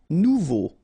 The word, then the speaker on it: nouveau: Nouveau. Remember, combination of A and U together, it's O. So you get nouveau.